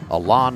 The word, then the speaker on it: Alon: We've been saying Allen all year, but it is apparently Alon.